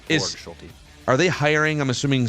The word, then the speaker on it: Borgschulte: least so is he is uh it's Matt Borg schy right correct that's how I pronounce it correct Bor schy are they hiring I'm assuming some other hitting